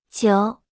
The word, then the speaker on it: 久: 久久久久久久久 Se pronuncia con el tercer tono.